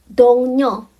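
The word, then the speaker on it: 동료: Sebenarnya dongnyo itu tulisannya itu dongrio.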